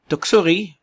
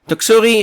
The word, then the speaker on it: Doksuri: our latest update on tropical storm tuksuri and that's the pronunciation of the new storm that has formed the east of the Philippine Islands taksuri is a Korean name